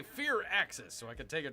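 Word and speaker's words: Firaxis: Waiting for Bear to say Fear Axis so I can take a drink. Fear Axis.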